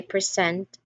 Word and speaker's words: present: I hope that you will be present when I present the award. Now, present as an adjective, like being there, stresses the first syllable, and then present as a verb, like giving, stresses the second.